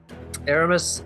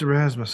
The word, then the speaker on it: Erasmus: off and continue um Aramis um Erasmus yeah is it Erasmus it's Erasmus it's spelled right there he's saying it both